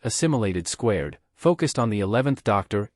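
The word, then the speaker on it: Assimilation²: the crossover Saga titled aim imation superscript 2 pronounced assimilated squared focused on the 11th Doctor Amy Pond and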